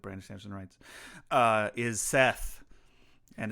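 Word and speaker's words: Szeth: Samson writes uh is Seth and it's funny his name is Seth but he has a z it's spelled s z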